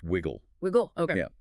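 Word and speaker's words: Wyg&: There is a prominent character in the narrative named Widgeon, spelled W-Y-G ampersand, but pronounced Wiggle. Wiggle? Okay. Yeah, Wiggle is a classic peeper.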